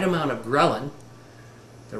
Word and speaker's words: ghrelin: with a hunger hormone that is gin g h re l i n or I like to pronounce it gelin is a hunger hormone